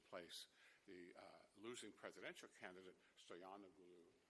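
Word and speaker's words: Stoianoglo: The losing presidential candidate, Stoyanoglu, is that how you pronounce it? Yes.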